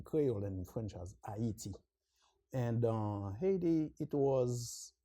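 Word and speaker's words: Ayiti: yes uh Haiti is the name is we pronounce it in cray and in French as hati and uh Haiti it was that was the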